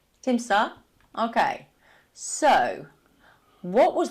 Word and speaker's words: Timsah: Timisia, correct pronunciation? Timsah.